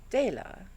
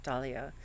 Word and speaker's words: Dela: Oh, I'm sorry, I've been mispronouncing her name. Dela, too. I've been calling her Dahlia.